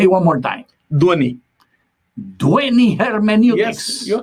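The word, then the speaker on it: Dhvani: feel bad if you are not able to pronounce it as beautifully as Reverend Daniel does it. Say it one more time. Dwani. Dwani Hermeneutics. Yes, you're correct. You are invited to work on Dwani Hermeneutics.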